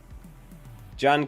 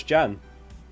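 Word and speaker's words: Janne: I always thought it was Jan. Janny. Tell me how it's pronounced. Start 2. João Pedro, Smith Rowe, Rogers. I'd start João Pedro and Rogers. Oh, is it Jan? With a soft J.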